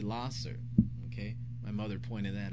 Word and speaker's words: Lahser: Some people pronounce it Lasher, but if you look at the spelling, L-A-H-S-E-R, it is actually Lasser.